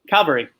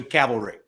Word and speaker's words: cavalry: let that one go Calvary that's not a sailor came out Calvary the first time as opposed to cavalry kappa yeah oh can